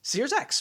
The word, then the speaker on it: SearX: another company that I don't know how to pronounce. It's SEARX. Sears X. Sears X.